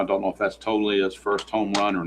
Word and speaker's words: Toglia: All right, here's Toglia. And the G is a soft G.